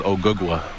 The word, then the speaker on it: Ogugua: My real name is Ogugua.